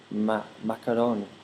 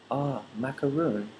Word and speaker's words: macaroon: In Japanese katakana, macaroon is pronounced macaron. But for English speakers, when we hear macaron, we're thinking, is it macaroni cheese or macaroni pasta or macaroon? So yeah, take care about the way you pronounce macaroon.